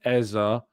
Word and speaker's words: Eze: Hey, look, if I'm speaking to somebody who says their name is Eze, I will say Eze. If I hear the person say Eza, I will say Eza.